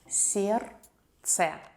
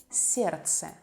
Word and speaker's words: сердце: сердце, сердце, heart. We don't pronounce the letter D.